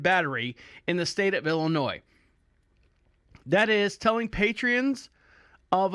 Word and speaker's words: Illinois: Pritzker, in the beautiful state of Illinois, my wife says, I say it wrong, Illinois.